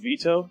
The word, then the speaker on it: Vitoux: the listeners all right so my last name is pronounced veto I'm veto I